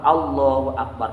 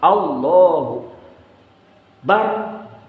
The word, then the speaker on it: Allahu Akbar: Hunya ke bawah lagi Allahu bar batal harus sempurna Allahu akbar lafaz Allahu Akbar itu harus sempurna artinya harus terdengar dan panjang peneknya juga